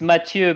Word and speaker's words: Mathieu: Well, it's Mathieu because it's French, so it's not Mathieu as like Matthieu, right?